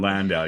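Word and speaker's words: Landau: he he just gets uh um yeah water landow plays him and he just gets like all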